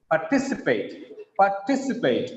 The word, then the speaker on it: participate: Participate, not just participate. It's not like reading participate. Participate. We have participated in today's program. Participate, right? Here, the second syllable stress, the word is polysyllabic.